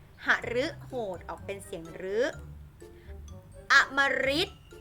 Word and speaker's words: อมฤต: ออก เป็น เสียง หรือ อมฤต อมฤต อัน นี้ ออก เป็น เสียง ริ นะ คะ กฤษณา กฤษณา